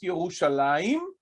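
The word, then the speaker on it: ירושלים: aside for a second in Hebrew it is pronounced yahushalayim and it is written without a yo almost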